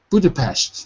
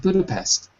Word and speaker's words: Budapest: Budapest, if you want to say it right. Not Budapest. Yeah. Budapest. Yeah. Like borscht.